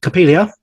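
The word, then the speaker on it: Coppélia: as theater performers you know yes and then capilia if that's how I pronounce it is that right yeah Capia capilia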